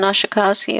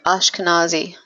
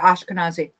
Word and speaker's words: Ashkenazi: whatever that Hashem on a Koski on an Asha kasi I can't pronounce it yeah same thing as um is Ravi he's Sephardic oh the part okay I'm doing instruction with the a um Ashkenazi yeah Ashkenazi I have no idea what that is but